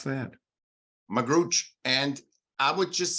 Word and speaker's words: Magrutsche: your last name is m-a-g-r-u-t-s-c-h-e how did you pronounce that magrooch and I would just say forget my last